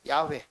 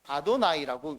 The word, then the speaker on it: 야훼: 발음은 야훼로 되어 있는데 이 유대인들은 이 발음을 해본 적이 없습니다. 야훼라고 하나님의 이름을 써놓고, 그리고 뭐라고 읽냐면 주님이라고 하는 뜻의 아도나이라고 읽습니다.